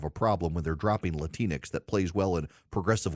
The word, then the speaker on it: Latinx: them as up you're latinx rhymes with Kleenex you're latinx I notice